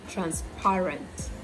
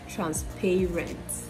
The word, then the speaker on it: transparent: It is transparent, transparent, not transparent, right?